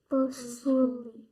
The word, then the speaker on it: boastfully: And where's the accent? First. First, yes. Okay, let's see how we're supposed to sound this out. What does it say for the first syllable? Boast. Very good. And then? Fully. Yes, okay. So how are you going to say it? Boastfully.